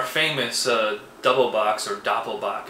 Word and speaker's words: Doppelbock: uh double box or Doppel boach as it's pronounced in German this is the ainger